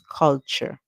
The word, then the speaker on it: culture: T so that's where the T takes on the C8 sound so we hear CH and then Ur makes the sound R and the e at the end is silent so our word is C all called so our word is culture culture now we going to